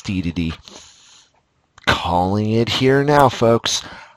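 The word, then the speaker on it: Dedede: we got a castle which is probably deity or day to day or if you've got a third pronunciation you're still also wrong because it's DDD calling it here now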